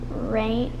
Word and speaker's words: reign: messiah european nationally gymnastics rain rain rain rain like at the king reigns over devotion potion no